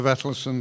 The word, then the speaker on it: Vetlesen: comments about the the Vettel Sun Foundation sorry I'm an Englishman and very conservative I have to stick with the old pronunciation this Foundation has contributed